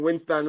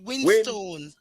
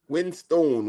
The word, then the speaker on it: Winstone: Give her just type in Winston when you get over there. All right. It's not Winston. You can't pronounce the name good. Winstone. Winstone.